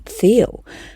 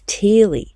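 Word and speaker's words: Thiele: Now, I'm a little bit hesitant to say who he is because I grew up saying Colin Theal, but that's not how you pronounce it, is it?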